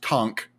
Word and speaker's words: conch: learned while i was there there's pronoun actually pronounced tonk shells are you telling me spongebob blinding me